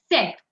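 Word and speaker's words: sept: sank six sees seven set please note here I'm not pronouncing the P set at wheat eight wheat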